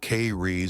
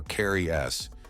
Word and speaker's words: Keres: let's break it down the car is pronounced K re or Carri s depending on your Vibe were these super creepy